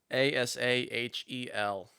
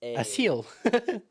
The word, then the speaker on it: Asahel: Hey, do you want to pronounce this name for me, Blake? Yeah. Asahel. ASA Where do you even see him? H Third row down on the far left. ASA. A seal.